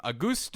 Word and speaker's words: Auguste: He officially pronounces his name Auguste.